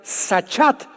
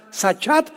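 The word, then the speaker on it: שחת: También es importante porque la palabra hebrea sachat se escribe con s Samuel y ch como suena sachat con té de tío al final y esta palabra significa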